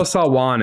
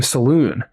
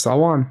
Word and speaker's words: Salaün: I don't know the 100% pronunciation, but I would have said Tidjane Salaün. So there you go. There you go. So we'll work on that. Apologies. I know Salaün is definitely the correct.